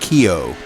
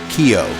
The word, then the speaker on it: Keogh: It's spelled or pronounced Keogh. William Keogh. The H is like silent, he told me.